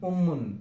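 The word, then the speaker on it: أمٌّ: We should say like this: alif mim pesh mim 2 pesh mun, ummun.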